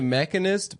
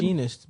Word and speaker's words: Machinist: He made the Mechanist before he did Batman. Is that how you Begins. pronounce it? Machinist, bitch.